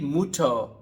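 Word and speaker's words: Mutter: दी म्यूट ठीक है यू को जर्मन में उ पढ़ते हैं तो बनेगा मूठ उ बनेगा मूठ ठीक है आखिर में आर नहीं पढ़ना इसी तरह जब इसके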